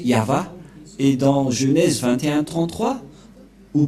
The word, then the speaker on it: Yahvah: Yod c'est l'alphabet hébreu qui est prononcé yava et dans Genèse 2133